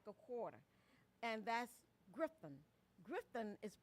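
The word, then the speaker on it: Grifton: And that's Griffin. Griffin is pronounced Griffin.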